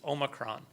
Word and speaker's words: omicron: how to pronounce it it's omicron in the united states if you go to another country they might pronounce it another way and the big question